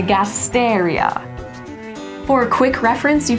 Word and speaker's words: Gasteria: to want to remember is the words that end in IO or IA, because they're actually going to get the emphasis on the third to last syllable. So you see that here with our senecio and the gasteria.